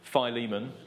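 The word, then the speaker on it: Philemon: two Thessalonians and and I never know how to say this one filimon femon philimon there we go is there all um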